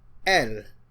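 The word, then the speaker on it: elles: If it is feminine it is l. The s is silent.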